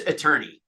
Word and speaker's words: attorney: in a British house do you say a torney or attorney it's it's weird it's weird how it's pronounced it it is attorney um I I would